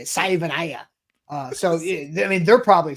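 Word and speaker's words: Savaiinaea: I for the longest time I thought it was Jonah Savanaya, but apparently someone asked him at the combine, and apparently it's Savainaya or something like that.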